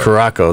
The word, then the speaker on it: Curaçao: Was it Curacao or yeah, and blue Curaçao. Curaçao, that's how you say it.